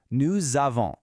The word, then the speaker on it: nous avons: We already saw the je becoming je, but more importantly, that liaison is back, making that same Z sound. Listen really closely. Nous avons, vous avez, ils ont.